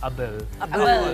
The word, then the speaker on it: Abel: 2017 Abel is an Ilocano word it's actually pronounced as Abel yes and it's an Ilocano word which means